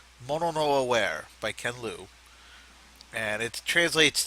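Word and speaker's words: mono no aware: uh best short story Mano Noir by Ken l or kenlou or uh actually and I'm not making F of you it's pronounced mon no aware by kenl and it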